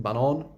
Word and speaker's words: banan: Banan, which means banana, but if you pronounce it banan, it means the track.